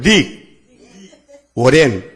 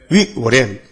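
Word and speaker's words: Rick Warren: 릭 워렌. 자, 발음이 들어가요? 릭 워렌.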